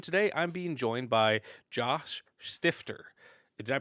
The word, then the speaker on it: Josh Stifter: I am your host, and today I'm being joined by Josh Stifter. Did I pronounce that correctly?